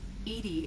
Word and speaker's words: EDI: airlock is ajar why are you named edie edie is the phonetic pronunciation of edi that is an acronym for